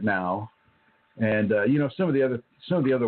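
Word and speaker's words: não: And so even though there are some similarities within that language, like no is nao or is now, N-A-O is no. And, they pronounce it now.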